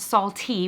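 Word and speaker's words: Saltt: First of all, I've been corrected that it's apparently pronounced salty, which is why it has 2 T's.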